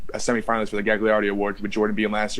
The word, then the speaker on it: Gagliardi: Gagliardi is the way it's pronounced. In fact, we'll put it on the screen, the phonetic on it. But John Gagliardi passing this year makes this award very special